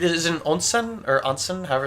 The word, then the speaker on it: onsen: pronounced ring yeah yeah it's super easy to pronounce Japanese words a is always uh he is always a I as always e o is always o ownsome onsen onsen okay yes sorry